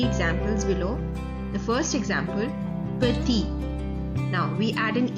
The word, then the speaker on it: petit: So that is why in the masculine singular form we will not pronounce the consonant T at the end. It will remain silent.